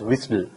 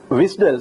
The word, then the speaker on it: WSDL: is something called wsdl so this is pronounced as wisle wisel stands for web service